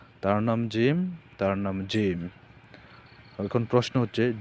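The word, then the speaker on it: جيم: তার নাম জিম। এখন প্রশ্ন হচ্ছে জিম অক্ষরটি আমরা কিভাবে উচ্চারণ করব? উত্তর জিম অক্ষর জিহ্বার মাঝখান থেকে শক্ত করে পড়তে হয়। অর্থাৎ জিহ্বার মাঝখান থেকে এটা শক্ত করে উচ্চারণ করতে হবে।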